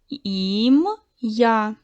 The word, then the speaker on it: ім'я: Ім, я, два склади. Наголос падає на другий склад. В слові ім'я два склади, три букви, чотири звука.